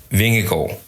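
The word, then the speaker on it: Vingegaard: have to write anything so just drop the r and the d like those are pretty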